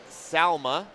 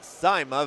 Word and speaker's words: Saima: Currently, we're watching Salma versus Caitlin. I guess it is pronounced Saima Vegert. Apologize for saying that wrong.